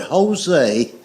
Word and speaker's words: Jose: The word Jose is J O S E, but it's pronounced with a H."